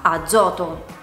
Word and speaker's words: azoto: Fra due vocali, come per esempio nella parola azoto.